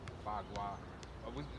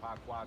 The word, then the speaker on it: Bagua: I say Pakwa because it's because the P is not in Chinese. If you're talking about a northern pronunciation, is with the B sound like a boy.